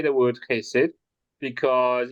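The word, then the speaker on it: חסד: you say the word chesed, because if you want to say it properly, you're going to probably spit on someone next to you.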